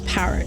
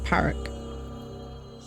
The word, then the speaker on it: Parrick: But Google says it's Parrick. It's how it's pronounced. It's pronounced Parrick.